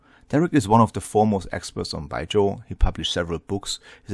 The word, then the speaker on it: Baijiu: then you can pronounce it correctly because it's like bai and with a J, so Baij, and then if you add the yo at the end, Baijiu. So Baijiu. Baijiu. Baijiu. So it's two syllables. First one is bai, second one is jiu.